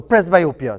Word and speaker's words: presbyopia: mr muhammad is have i pronounced it correctly press biopia or press b opia how is it pronounced hi morning it's pressed by okay i pronounce it all right right so press biopia so and we've in in the video people